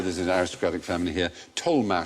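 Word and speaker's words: Tollemache: could just say that about toxic yeah good pronounced people was a member there's an aristocratic family here tolh spelled t o l e m a c h e tolh there was the tolh tolh family double barrel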